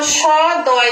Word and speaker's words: সদ্য: আমরা কেমন লিখেছি, দন্ত স দয় জফলা। এই দন্ত সটা যখন উচ্চারণ করছি তখন কিন্তু এর সঙ্গে একটি অ আছে, কিন্তু আমরা যখন উচ্চারণ করছি তখন কি বলছি সদ্য।